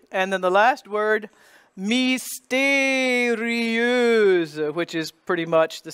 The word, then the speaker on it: mystérieuse: The M-Y becomes, substitute an I sound for the Y. And you get E. Accent aigu, the acute accent on the E. Mystérieux. There's that E-U again by itself. That EU spelling, and then voiced Z because it's between two vowels, intervocalic.